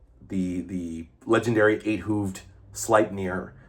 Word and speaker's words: Sleipnir: they say, not eight-legged, but eight-hooved steed named Sleipnir, the legendary eight-hooved Sleipnir. Sleipnir, that's how it's pronounced.